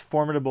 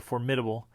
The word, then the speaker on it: formidable: So the first one is, you can pronounce it two different ways: formidable or formidable, right?